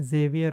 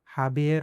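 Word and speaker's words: Javier: अगर किसी का नाम में एक्स है, जैसे कि हम इंग्लिश में जेवियर बोलते हैं, मगर स्पेनिश में ये हाबियर होगा, हाबियर, इसको ह पढ़ेंगे, ओके, हाबियर।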